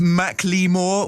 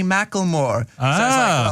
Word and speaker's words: Macklemore: girl yeah you know some people are like it's pronounced McLemore well actually at the start of the video she goes hey Macklemore that little girl just told